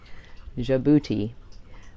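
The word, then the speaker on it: Djibouti: how to spell it how to say it because it starts with a d jabuti but our country this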